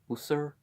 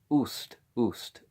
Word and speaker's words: Ust: Well, how do you pronounce that? Usur? No, Ust. Okay, Ust.